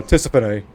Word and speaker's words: Tisiphone: Well, Tisiphone is the proper Greek pronunciation. Or at least I believe so. Again, never studied Greek, but that's more correct.